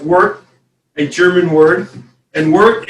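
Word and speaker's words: wort: o r t and the o has an e sound so it's pronounced work a german word and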